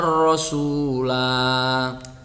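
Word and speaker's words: الرَّسُولَا: Nah, di sini yauma tuqallabu wujuhuhum fin nari yaquluna ya laitana ata'na Allah wa ata'na ar-rasula. Lanya panjang. Itu kalau misalkan dibaca waqaf atau berhenti.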